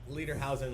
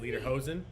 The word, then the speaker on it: lederhosen: percent that's a double social cheers everybody drinking leader housing Lu out Pollyanna leader house leader housing how do you say it lederhosen all right question three Michael Jackson as seen